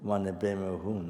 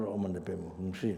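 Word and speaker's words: Om mani padme hum: unit text, and then Omani Pema Hum, not she, Omani Pema Hum, 6 syllables. You get Dujuba, 6 syllables, not Omani Pema Hum she, no.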